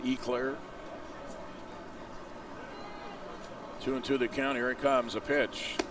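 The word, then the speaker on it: Eau Claire: Wisconsin is how you say it, Eclair.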